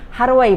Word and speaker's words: 해러웨이: 거기에서 하로웨이 박사라는 사람이 나옵니다. 그게 이제 헤로웨이를 얘기하는데요. 헤로웨이의 사이보그 선언에 대한 일종의 오마주라고 저는 생각이 듭니다. 그래서 헤로웨이 박사가 하로웨이 박사라고 하죠. 일본식으로 발음해서 거기 안드로이드들이 나오는데 안드로이드들이 원인 모를 고장으로 계속 고장이 나요.